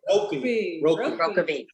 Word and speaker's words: Rokeby: How do you pronounce that? Rockabee.